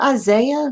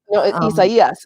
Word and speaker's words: Isaias: Because I was like, is that Isaiah? No. It's Isaias. And like if you watch any news coverage, all the anchors have like practiced saying it, so they all like want to say it like Isaias.